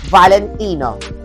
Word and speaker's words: Valentino: Valentino.